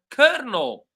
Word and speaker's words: colonel: Word number four, colonel. Completely different from how it is written.